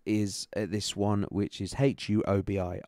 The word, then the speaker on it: Huobi: I always pronounce it Hobi, but that's probably because I'm trying to say half of that name, and also Huawei, which is the mobile phone manufacturer. But I just call it Hobi.